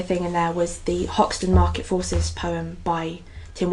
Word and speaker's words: Hoxton: poem by Tim Wells, or Oxton, as he would rather me pronounce it. Yeah, as he always says, he remembers Oxton before the H went back on it. Yeah, better without the H.